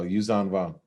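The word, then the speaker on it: Yuuzhan Vong: Oh, Yuzan Vong.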